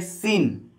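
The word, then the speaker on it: scene: बोलेंगे, इस सी का उच्चारण नहीं करेंगे, कहेंगे सीन, सी को साइलेंट कर दिया जाएगा।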